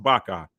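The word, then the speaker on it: vaca: I didn't take Spanish long okay it says Baka that's correct that's correct it's pronounced Baka which is actually the Hebrew word for a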